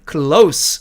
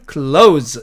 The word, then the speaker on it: close: 여기 A번 보니까 close 이렇게 철자한 이 단어는 형용사로 가까운, 부사로 바로 곁에 이렇게 쓰일 때는 close 이렇게 발음을 하고 동사로 닿다라는 의미로 쓰일 때는 close 이렇게 발음한다는 뜻입니다.